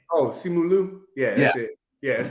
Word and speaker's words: Simu Liu: Sim Lu. Who is the actor? Sim Lu. I can't pronounce the name, but I know the initials is SL.